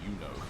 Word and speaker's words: Uno: I keep saying Juno, it's Uno.